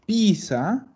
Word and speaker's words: pizza: pizza una pizza sí porque si yo digo pizza es una ciudad en la ciudad de la torre la torre de pisa ya nosotros vamos a pronunciar pizza como la mozzarella tenemos un doble-doble ya